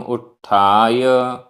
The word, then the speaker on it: उत्थाय: आधा टाठ। उत्थाय।